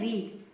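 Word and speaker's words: read: रीड। और रीड की second form भी रीड होती है लेकिन उसका प्रोसिएशन रेड होता है और थर्ड फॉर्म रीड उसका प्रोनाउंसिएशन रीड होता है।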